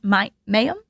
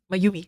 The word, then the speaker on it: Mayumi: Would you mind telling us a little bit about Nurse Mayum? Mayumi. Yes. Mayumi. Oh, I totally butchered that.